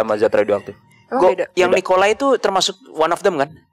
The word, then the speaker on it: Nikolai: mau balik ke rumahnya Nikolas ya Nikolas apa nikolai Nikolas nikolai nikolai Oh bacanya nikolai enggak tahu pokoknya tulisannya